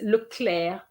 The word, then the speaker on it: Leclerc: And then the name is Leclerc. The C is there, and for whatever reason, the C is silent, okay?